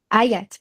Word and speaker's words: Hayat: Na verdade, só para complementar a tua fala, Riat, é a pronúncia Hayat. certa? Ayat, perdão.